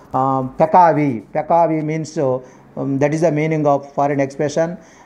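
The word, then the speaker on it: peccavi: Next one PACCAVI. PACCAVI. That is means Pekavi.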